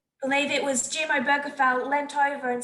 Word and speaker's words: Obergefell: And people wanting to say Obergefell, I did look up how to pronounce it. E ela tá corrigindo, a pronúncia realmente é Obergefell. It's Obergefell.